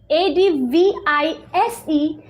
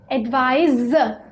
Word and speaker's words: advise: advice okay s right the word which is a d v i s e that's pronounced as advise said advise now advice is a noun okay